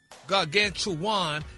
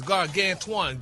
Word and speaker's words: gargantuan: The last A, your emphasis is wrong on that.